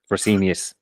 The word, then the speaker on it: Fresenius: And then Freshness is, how do you pronounce that, guys? The healthcare company. Fresenius.